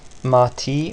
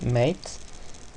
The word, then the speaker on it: MATE: use the marty-mart a people nowadays seems to pronounce it Marty but I pronounce it mate you can just use